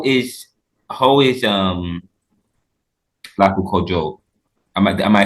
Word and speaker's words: Lakou Kajou: And I know, how is Lakou Kajou? Am I saying it correctly? Lakou Oh, Kajou. Lakou Kajou.